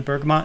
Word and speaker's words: bergamot: one here ooh bergamo bergamot bergamot that's what it's called not bergamo i've been saying i